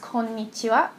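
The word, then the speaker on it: こんにちは: And once again, it's pronounced Konnichiwa.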